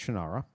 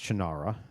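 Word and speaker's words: Shannara: of the shanara series now he pronounces it different he's wrong it's shanara look how it's spells of course it's chinara it's not that Irish little brogue that he adds to it and I thought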